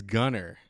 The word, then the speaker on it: Gunnar: It's Gunner.